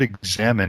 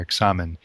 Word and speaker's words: Examen: for the future now this word examine itself is just the English pronunciation of the Spanish word that st. Ignatius used for this form of Prayer examine in the Spanish and we just say examine and in a present